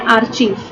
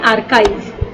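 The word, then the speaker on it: archive: गलत प्रोनाउंस करते हैं, बोलते हैं आर्चीव। आर्चीज देखा ना, तो आर्चीज से आर्चीव बोल देते हैं, पर इसका एग्जैक्ट प्रोनाउंसिएशन होता है आर्काइव।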